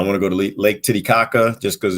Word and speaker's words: Titicaca: it's called a lake titicaca like you stressed all the right you know uh syllables that was awesome um